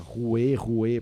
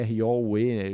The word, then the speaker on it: Roue: Então fala Roue. Se fala Roue. Tem R-O-U-E, mas você fala o R e o U.